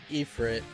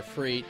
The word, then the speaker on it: Ifrit: So this is Ifrit, or Freet, depending on your pronunciation.